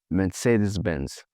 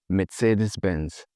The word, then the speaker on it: Mercedes-Benz: Like the Germans say Mercedes-Benz. Mercedes-Benz. It has that TS sound to it, which I actually quite